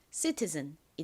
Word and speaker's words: citizen: I는 역시 이 소리 나고 끝에 ZEN은 즌 소리 나니까 연결하면 citizen이 됩니다. citizen. 미국식 발음으로는 여기서 T를 좀 리을처럼 꼬아서 발음하는 경향이 있어요.